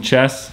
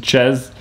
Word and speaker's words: Chez: Just discovered it's Chez with a Z. Evidently it's an inside joke that everyone calls him Chess, but his name's Chez.